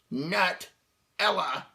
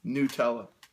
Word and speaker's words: Nutella: me, sir, excuse me, it's spelled Nutella, Nut-ella. We're either doing Nutella or Nutella, depending on where you are and how much you give a damn.